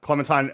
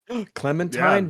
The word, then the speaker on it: Clementine: And her name rhymes with Valentine. Clementine.